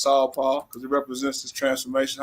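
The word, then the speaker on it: SaulPaul: it you appreciate that so you can be calling me saul but i let everybody do it but it's really just saw paul because it represents this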